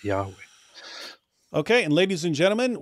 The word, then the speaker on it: Yahweh: And the most common, most popular conclusion by scholars at the moment is that it is most likely Yahweh.